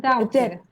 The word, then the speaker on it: doubt: منظورتون doubtه ها؟ doubt. بله. adopt اینه ها. اشتباه نگیرید. به معنای به سرپرستی پذیرفتن. For example, adopting a child. این doubt میشه شک. Without any doubt. B تلفظ نمیشه.